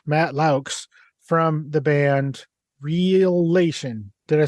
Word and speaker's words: reaLation: Vincent Lane and Matt Loucks from the band reaLation. Did I say it right? Yeah, absolutely. reaLation. Yep, that's us. Yes, sir. reaLation. Okay, guys. So it's spelled REALation.